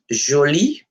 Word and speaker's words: jolie: When feminine, you just add the E, but no change in the pronunciation because it's just there. The E is there for the structure of the language, but the sound doesn't change.